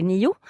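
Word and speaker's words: nio: laughing okay okay so it's spelled n-i-o and uh when i i say it um like this i say niu if i speak quickly i might say okay so yeah and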